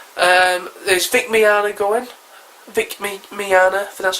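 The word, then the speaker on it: Vic Mignogna: Anime voice actors um there's Vic Miana going Vic Miana that's how you pronounce it from FUNimation he played Edward El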